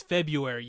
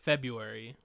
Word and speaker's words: February: But people you don't pronounce the R though. It for sure is February. You say it February.